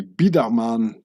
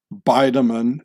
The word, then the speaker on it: Biedermann: and from now on I'll pronounce the name bman in its real Swiss German form baman like saying J Edgar huba for the FBI director it so here it